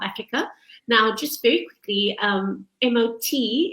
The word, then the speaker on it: MOT: Now, just very quickly, MOT is pronounced MOT because it's actually a Norwegian word that means courage.